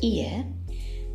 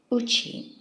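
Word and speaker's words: 家: this kanji means either house, in which case it's pronounced ie, or my home, in which it's pronounced uchi.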